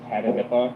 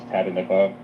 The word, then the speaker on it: Tatanippa: My name is Tatanippa. That's how you pronounce it, is Tatanippa.